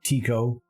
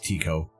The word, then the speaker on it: Tycho: which was named after so depending on how everybody pronounces it there i've heard both i go with this uh with tico whenever i think in taiko i think of the